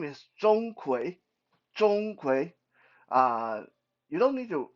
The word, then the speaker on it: Zhong Kui: door the first one uh his name is Zhong kui uh you don't need to really remember their name unless you wanted Zhong it's spelled Zed o-n-g-k-w-a-y Zhong kui don't worry if you see him you will